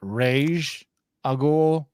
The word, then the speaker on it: Ra's al Ghul: Ra's al Ghul. All right. Ra's al Ghul. Yeah. I also named heard Rage al Ghul.